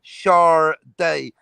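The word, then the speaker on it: Sade: was in the 80s which is like chardee who was built s-a-d-e and thinking how they get charlie cause that's her name you don't pronounce it i remember buying her album in new york and it had the stickers pronounced shah day because people were calling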